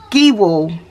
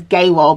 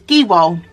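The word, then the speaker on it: Gehwol: probably pronounce it as gay wall because the E is pronounced like an A so that's where I got confused but anyway it is giwal um so right so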